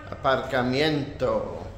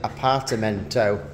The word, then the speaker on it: aparcamiento: Aparcamiento. It was what you've been trying to say to me all week. And I thought you were saying apartamento, like apartments, no. Not. No, I'm saying apartment. Yeah, aparcamiento.